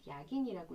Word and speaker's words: 야긴: B는 보아스, J는 야긴이라고 읽습니다. 옛부터 내려오는 이야기에 따르면 예루살렘의 고대 사원에는 이런 기둥들이 있었대요.